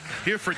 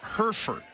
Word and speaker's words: Hereford: helping me with pronunciations she claims that Hereford Hereford Texas has always been pronounced Herford I think you're incorrect here comes the I